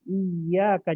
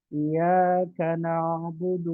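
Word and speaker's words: إِيَّاكَ: Maka hati-hati bacanya harus ada tasdid. Iyaaka. Jangan iyaka na'budu wa iyaka nasta'in.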